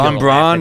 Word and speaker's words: von Braun: If your town's known for the Nazi museum, you gotta fucking, you gotta Von Braun. Is that my pronouncing it right?